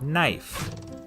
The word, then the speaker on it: knife: is in the word knife in Middle English it was pronounced knif but after The Vowel Shift the K became silent and the E turned